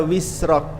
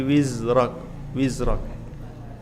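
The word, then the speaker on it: وِزْرَكَ: Ada juga yang bacanya wisrak, bukan wisrak tapi wizrak.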